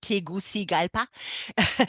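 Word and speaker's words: Tegucigalpa: about the country although nobody knows how to pronounce the capital and I had to learn it it's tigusi galpa and the first time you see it you're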